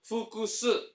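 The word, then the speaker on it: 複数: Bacanya adalah fukusu.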